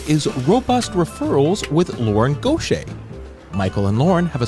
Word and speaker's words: Goché: mary poppins superpowers for good she is lauren gautier thank you so much lauren for coming on